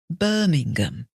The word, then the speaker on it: Birmingham: end of Cardiff and on the words where there are a number of syllables the emphasis is on the first syllable Manchester Birmingham Liverpool Nottingham you hear